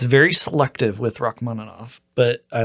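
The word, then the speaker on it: Rachmaninoff: Um, is it Rock Manov?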